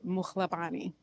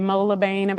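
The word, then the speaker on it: Mohlabane: So you see why I only go by my first name because it's like people would always say Mabain and they'd be like am I saying it right?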